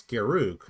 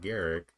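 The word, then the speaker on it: Garruk: magic cards because like no it's garuk not garrick birdman okay this card's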